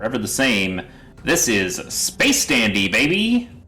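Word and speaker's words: Space☆Dandy: the same this is space dandy baby also there's a star between space and dandy oh okay that's yeah it's space star dandy just don't pronounce the star uh yeah space dandy's okay i i enjoyed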